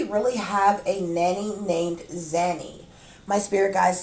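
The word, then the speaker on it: Zanny: up and i like zany rhymes with nanny you understand how stupid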